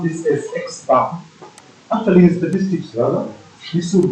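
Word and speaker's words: x̄: fact the formula is x sorry okay we pronounce this as x bar actually statistics rather this would be x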